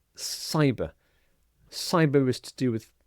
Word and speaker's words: cyber: And the next word is cyber security. Cyber security. So the C here is pronounced exactly the same as the S here. So not Kyber but cyber.